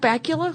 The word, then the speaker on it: Bakula: ever watch a Scott Bakula whose name rhymes with Dracula butt crack EULA oh